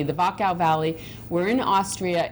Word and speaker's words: Wachau: it for me, The Wachau Valley. It begins with a W, but pronounced with a V. The Wachau Valley.